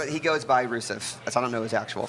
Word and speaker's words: Rusev: And so, I mean, these athletes, this Bulgarian man is probably very strong and good Yusef. at what he does. Yusef. Is that his name? Rusev.